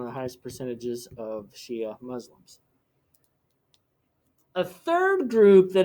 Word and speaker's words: Shia: small portion of the population of iraq the shia which is spelled s-h-i-a they once again are the ones